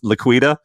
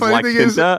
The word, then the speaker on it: La Quinta: I used to think that La Quinta Inn was Liquida. You know what I'm talking about? The Liquida Inn. I didn't know it was La Quinta.